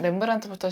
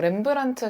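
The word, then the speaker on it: Rembrandt: 뭐 렘브란트 같은 경우도 브랜딩이나 마케팅이 있었을까라고 생각할 수도 있지만 일단 본인 이름에다가 묵음인 D를 넣어서 조금 브랜드명의 차별화를 두기도 하고 당시 화가들은 다 이탈리아로 유학을 떠났는데 렘브란트는 아예 네덜란드를 안 벗어났었거든요.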